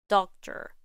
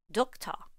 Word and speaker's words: doctor: In these words, ER and OR are simply reduced to the schwa sound in British English. Teacher, doctor. In American English, the ER in teacher and the OR in doctor are just a very reduced schwa sound plus the R sound.